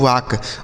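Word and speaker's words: walk: इसे पढ़ा जाता है डब्ल्यू से व। ए से आ। एल यहां पे साइलेंट है। मतलब इसे नहीं पढ़ा जाएगा। और के से हो जाएगा क। इसे पढ़ा जाता है दोस्तों वाक।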